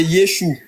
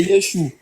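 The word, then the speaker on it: ישוע: En aramé c'est Yeshou hein. En aramé c'est Yesou. OK. Attends, je vais te montrer si c'est le même nom que j'ai ici là. Voilà. Y E s H. Oui.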